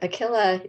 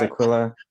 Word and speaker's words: Aquila: goodness um is it akila lee and i hope i didn't massacre your name okay i get a different pronunciation my name is aquila i'm with a small